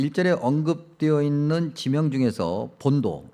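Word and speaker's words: Pontus: 특별히 오늘 그 절에 언급되어 있는 지명 중에서 본도 뭐 폰투스 그렇게 발음하기도 하고요 그다음에 비두니아 아 그렇게 발음하기도 하는게 아니라 원래 발음이 폰투스 그다음에 비두니아 우리 한글 성경에 기록되 있는 건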